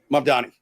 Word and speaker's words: Mamdani: Fair and balanced resurfaced video shows Zorhan Mandani. Am I saying it right? Mdani.